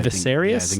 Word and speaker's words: Viserys: Viserys, yeah. Viserys that's how you pronounce it.